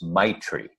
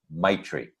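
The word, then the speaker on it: maitri: Tibetan word I believe the word is my tree I think that's how it's pronounced ma I TR I my tree it means loving kindness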